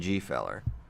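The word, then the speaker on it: Gfeller: When we were talking about the Harshla pronunciation, he's like, "Can we still say the G in G feller?" I think absolutely. I think we must.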